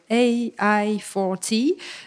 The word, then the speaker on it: AI4T: Et pour ceux qui voudraient plus de ressources, il existe en France le projet prononcé à l'anglaise AI4T, donc AI for and by Teacher, donc, qui propose un manuel